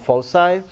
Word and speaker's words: foci: these are called follow side not focuses it's pronounced foci well that distance is constant that distance is